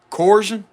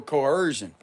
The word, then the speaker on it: coercion: Corion. Or it could be spelled differently. Can y'all help me with how to pronounce that?